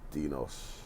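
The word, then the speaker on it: στενός: Stenos. See how it's pronounced?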